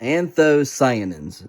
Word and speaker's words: anthocyanins: is anthony and anthony i'm going to look that up real quick so i can say it properly because every time i read it i say it right i'm trying to remember how to say it i do not anthocyanins okay it has anthocyanins